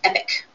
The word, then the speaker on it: EPC: The acronym is EPC, but it is pronounced EPIC.